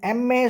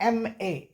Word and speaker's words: MA: MA, EM कैसा sound आ रहा है, लिहाजा MA बोलना ज़रूरी है।